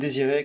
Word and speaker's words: Désiré: I will, however, let Chris go there for this time because he pronounced Sacha Guitry and Désiré quite right.